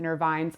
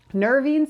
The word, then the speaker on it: nervines: Some people will pronounce it nervines. I've heard it both ways. Nervines in general are herbs that are supportive to the entire central nervous system.